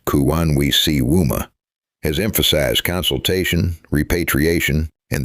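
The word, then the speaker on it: Kuwanwisiwma: Kawanwisima, pronounced Kuwanwisiwuma, has emphasized consultation, repatriation, and the authority of communities to protect ancestral knowledge.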